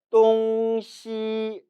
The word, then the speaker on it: 东西: 이 단어는 발음이 2가지로 읽혀요. 첫 번째는 따라 읽습니다. 똥시, 똥시. 똥 일성은 동쪽을, 시 일성은 서쪽을 나타내죠. 따라서 똥시라고 발음하면 이는 동쪽과 서쪽을 나타냅니다. 그런데 이러한 경우보다 더 빈번하게 다음과 같이 읽는 경우가 많아요. 따라 읽어봅니다. 똥시, 똥시. 이처럼 시 발음을 시, 시. 경성 처리하는 경우죠.